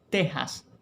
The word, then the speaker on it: Texas: Lo adecuado es que esa X en estos topónimos mantenga su valor como fonema J. Lo propio es México, Texas y por supuesto sus derivados tejano, mexicano y no texano y menos mexicano.